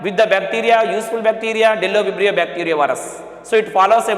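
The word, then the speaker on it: Bdellovibrio: Okay, but pronounce not Budello. It is Dello-vibrio.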